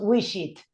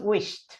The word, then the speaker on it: wished: No decimos wish it, decimos wished.